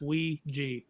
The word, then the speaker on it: Ouija: That is the correct pronunciation. It's Ouija.